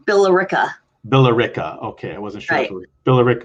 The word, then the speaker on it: Billerica: what's the actual town called it's called billerica billerica okay i wasn't sure billerica or blu rico no don't worry everybody pronounces it okay all right what's uh tell